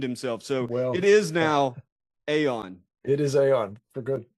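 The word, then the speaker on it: Aeon: note I have completely changed gears I Now Pronounce it Aon I think would be very passive aggressive to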